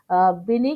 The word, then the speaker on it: Binet: जिनका नाम जो है हम एल्फर्ड बिने BINET लिखते हैं, लेकिन ये एल्फर्ड बिने की तरह प्रोनाउंस किया जाता है।